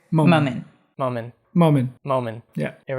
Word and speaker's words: Momin: okay perfect very nice and how do you pronounce the last name moment moment moment moment yeah here we go very